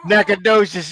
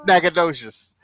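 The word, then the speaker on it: Natchitoches: docious no is that how you say it naad docious yeah I got to think about it like it's naad docious all right and then here's I guess your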